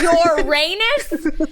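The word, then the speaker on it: Ouranos: oh uh the sky orenos some like to refer to him as uranus but i prefer uranus how dare you his name is your rayness and you will say it like that so that is the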